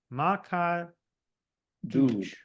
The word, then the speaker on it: Maa Ka Doodh: M-A, okay, let's spell that again. M-A-A. M-A-A, yeah. K-A. K-A. D-O-O-D-H. Okay. Maa Ka Doodh.